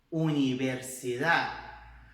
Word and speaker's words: universidad: Universidad, universidad, viu? Então tem que bater lá atrás dos dentes, mas a gente não vai fazer a pronúncia dessa letra, tá?